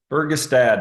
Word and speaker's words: Fergestad: Today I'm joined by Tim Fergestad. Did I mutilate that? That's a good pronunciation of the last name there, Oh, Tim? that's Fergestad.